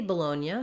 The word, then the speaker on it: Bologna: have um the city bologna so if we're talking about that place in italy in american english we would say that with second syllable stress on the low here's an interesting thing